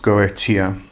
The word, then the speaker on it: Goetia: the word up here so it's it's it's pronounced gotia and that actually means witchcraft or sorcery and